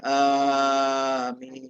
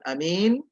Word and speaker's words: Amin: seperti yang usus bacakan jadi Amin ingin bukan bukan Anin Bukan Ya bukan ini bukan juga amin ya tapi harus Amin jadi ah dengan Mi itu dipanjangkan ya baik anda percaya